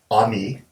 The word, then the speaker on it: Amy: this young somali girl named ami it's spelled amy is sort of coming